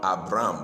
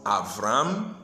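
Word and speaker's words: אברם: We normally pronounce it Abraham or Abram, but the Hebrew way of pronouncing it is Avram and Avraham.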